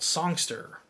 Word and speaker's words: Songsterr: A great website you can check out is called Songster. So it's spelled just like it sounds, SONGSTERR. There's 2 R's at the end.